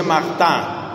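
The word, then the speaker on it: Martin: de los esposos francés escribe martín pero se pronuncia marta marta los papás de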